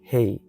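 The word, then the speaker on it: ה: Esa letrita se menciona, se pronuncia hey, hey, hey.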